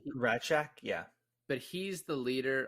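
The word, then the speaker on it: Rasczak: They pronounce it like Ratchek is how they pronounce this guy's last name. Ratchek, yeah.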